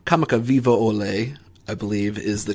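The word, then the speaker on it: Kamakawiwoʻole: I'm going to try to pronounce this name correctly. Kamakawiwo'ole, I believe, is the correct pronunciation of it.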